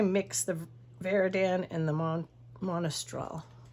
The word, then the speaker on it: Monastral: If I mix the Veridan and the Monastral. Monastral's how you say it.